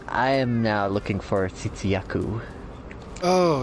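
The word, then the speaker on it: Tzitzi-Ya-Ku: Okay, pardon me if I butchered the pronunciation, but the Tsitsi Yaku. Oh, yeah, that one. That one's going to be an easy one. Also, yeah, that's pretty much how you pronounce it. Tsitsi Yaku.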